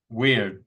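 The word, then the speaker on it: wyrd: or word word how do you say that weird w yr d w yrd that has a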